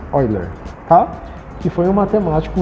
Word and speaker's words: Euler: Se escreve Euler, mas lemos Euler, tá?